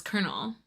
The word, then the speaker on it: colonel: I don't know if I had like access or like knew to like look up a pronunciation dictionary, but yeah, it was Colonel.